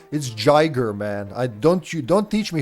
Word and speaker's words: Giger: It's Giger, man. Don't teach me how to pronounce Swiss names, all right?